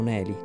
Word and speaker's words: Nelly: Il suo nome è Oshineli, ma sia io che Shirley la chiamiamo Nelly, con la pronuncia latina della I.